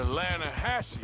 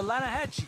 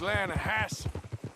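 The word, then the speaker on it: Lannahechee: some beautiful steelhead trout you mean the atlanta hassey river no no no no no the the lana hatchy it runs right near here yeah but it's pronounced land hass why is everything in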